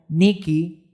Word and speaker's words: Nike: por la palabra Nike, que en el griego se pronuncia como Niki, ¿okay?